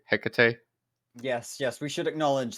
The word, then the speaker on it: Hecate: so that he can tell us how to pronounce it i seriously just did it's greek it's the goddess it's hecate there's this technology i already told you you